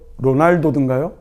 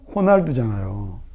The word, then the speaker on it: 호날두: 얘 이름이 뭐예요? 로날도든가요? 호날두잖아요. 그러니까 얘는 영어가 아니고 포르투갈어거든요.